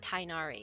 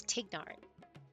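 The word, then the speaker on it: Tighnari: They've said they hate the fact that they have to say his name wrong, and it's not Tainari, it's Tignari. So, but you call him Tainari, okay?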